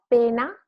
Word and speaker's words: pena: Pena, penna, pena, one N, penna, double N. So just longer and a bit stronger.